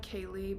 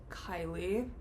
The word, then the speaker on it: Kailie: It does look like Kaylee, but it is pronounced like Kylie.